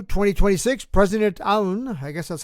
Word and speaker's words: Aoun: On March 2, 2026, President Aoun, I guess that's how you pronounce it, A-O-U-N, declared, quote, only the Lebanese state has authority over questions of war and peace.